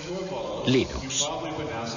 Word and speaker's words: Linux: linus torvalds no hay duda de que lo pronunciaría linux claro que sí unos de la costa oeste